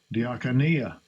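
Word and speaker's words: διακονία: Diakonia. Diakonia. That's how it's pronounced.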